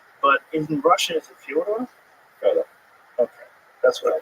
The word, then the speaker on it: Fyodor: I'm like, yeah, well, that's kind of the accepted American pronunciation of Fyodor, though. So I wanted to ask you if it's Fyodor.